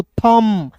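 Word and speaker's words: thumb: पॉम टी एच यू एम बी को क्या पढ़ेंगे दोस्तों? थम।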